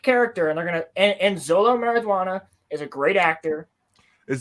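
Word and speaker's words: Xolo Maridueña: Beetle's a sick character and they're gonna end Zolo marijuana is a great actor is that how you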